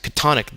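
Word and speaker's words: chthonic: what are known as catonic deities that is underworld gods and goddesses much like the leviathan of the old testament the pronunciation of katonic is catonic which explains lovecraft's famous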